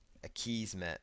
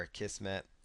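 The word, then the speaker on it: Akismet: another plugin here called a keys met or a keys met or a kissm depending on how you want to pronounce it just choose activate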